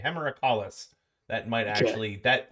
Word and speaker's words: Hemerocallis: No one asked you to say the Latin, but you just it's like hemorrhoid but callus at the end. So I'm just gonna say hemorrhacalis.